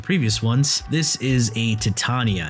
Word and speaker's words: Titania: ones this is a titania and yes that's how you properly pronounce it titania this setup is the